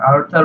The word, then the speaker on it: Arthur: কারণ এইটা সরাসরি বেলফোর, ওনার নাম ছিল হচ্ছে আর্থার বেলফোর, ইংরেজিতে যার উচ্চারণ ARTHUR, আর্থার Balfour, BALFOUR, Balfour, ওনার নাম ছিল বেলফোর।